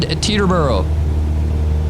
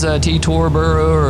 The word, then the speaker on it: Teterboro: We are taking off in Teterboro, or I guess how they say it in sim is T-Torboro or T-Turboro or something like that. But Teterboro, New Jersey.